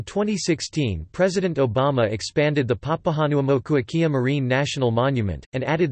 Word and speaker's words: Papahānaumokuākea: In 2007, the monument's name was changed to Papahanuamokuakea Hawaiian pronunciation, Pipihanumokuaki Marine National Monument.